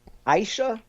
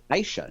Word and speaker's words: Aisha: From the Post-Dispatch, Aisha Sultan. And most people mispronounce her name, Brad. If you listen to the Post-Dispatch propaganda, they actually call her Aisha, not Aisha.